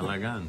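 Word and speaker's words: בלגן: It's just getting just, I call it balagan, you know. I'm saying it right. Yes, okay. Balagan.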